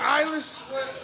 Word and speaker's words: Eilish: Bill Say it right. English. Eilish.